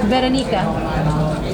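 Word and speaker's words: Weronika: Veronica. Can you say it, Veronica? Roll your R.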